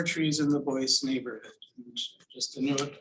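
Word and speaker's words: Boise: 4 trees in the Boyce neighborhood. And just to note, I'm using the original pronunciation of the neighborhood, Boyce. Some people say Boyce, but I'm going to say Boyce for this presentation.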